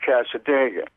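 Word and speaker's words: Cassadaga: Boy, so we pronounce that Casadega.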